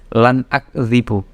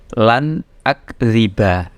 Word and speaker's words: lan akdziba: Jadi bacanya bukan lan akdzibu. Ini misalnya kalau tidak ada harokatnya ya. Ini kan ada harokatnya. Kalau misalnya tidak ada harokatnya, bacanya awas, lan akdziba, bukan akdzib.